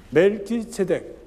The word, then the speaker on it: 멜키세덱: 멜키세덱, 히브리 말로는 세덱하는 건 정이란 뜻입니다. 멜렉 하면 왕인데 이걸 합해가지고 멜키세덱이라고 해서 멜렉 원래는 세덱이죠. 이어지는 발음이 되기 때문에 멜키세덱이랍니다. 그러면 정의 왕이다.